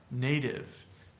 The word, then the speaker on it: native: meadow Nika here this native native native native so the tea between vowels is like a Spanish are we call this a flap or a tap in linguistics native you might notice